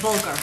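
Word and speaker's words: bulgur: How do you pronounce that word? Bulgar.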